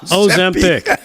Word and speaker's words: Ozempic: It's 3 syllables, Joe. Ozempic.